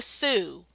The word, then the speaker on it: Sioux: In the case of the Sioux, pronounced like the girl's name Sue but spelled Sioux, you had the Minnesota Sioux Uprising of 1862.